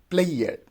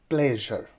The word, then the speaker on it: pleasure: People pronounce it player. It is not player, it is pleasure.